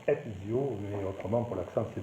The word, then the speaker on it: Ezio: Alors c'est Ezio, le Z se prononce Ezio, mais autrement pour l'accent c'est bon.